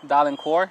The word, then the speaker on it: Dalencourt: Dalencourt, Dalencourt.